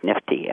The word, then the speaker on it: NFTE: The program is called the Network for Teaching Entrepreneurship, and our acronym is NFTE, which is pronounced NIFTY, which a lot of people call us.